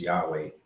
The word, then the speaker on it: Yahweh: of us breathing says Yahweh if you breathe yah and breathe out way it's normal breathing Yahweh said you will